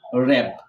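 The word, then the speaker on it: wrap: এই কারণে দেখো এই ডাব্লুটা যখন সাইলেন্ট, এই কারণে উচ্চারণ না হয়ে রাইট, রং, রিং, র্যাপ, রোড।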